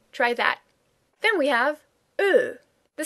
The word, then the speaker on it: Ö: Then we have ö. The sound is again close to an English sound. It is very close to the sound that you hear in such words as word, bird, turd, flirt.